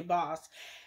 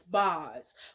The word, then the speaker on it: Boz: up and she basically mispronounces Bose's name and called that lady boss. And I was like, Kathy, I love you, yeah, because you messy bitch. You a rich bitch, and you's a Pisces like me. But baby, what you not finna do is mispronounce that woman's name. Her name is Boz, which is short for Bazima.